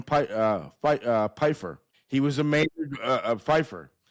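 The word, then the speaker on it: Pifer: Stephen, I believe his name is pronounced Stephen Pfeiffer.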